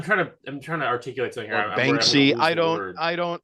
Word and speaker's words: Banksy: Is that how you say it, Bansky? But anyway, I'm trying to articulate something here. Banksy, I don't like.